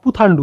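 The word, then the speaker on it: புத்தாண்டு: এবং এটার নাম অ্যাকচুয়ালি হচ্ছে পাথান্ডু বা পুথান্ডু, এরকম উচ্চারণ হবে। তামিল তো আমি উচ্চারণ করতে পারবো না ভালোভাবে, তো উচ্চারণ ইংলিশ অনুযায়ী হবে হচ্ছে পুথান্ডু, PUTHANDU, পুথান্ডু।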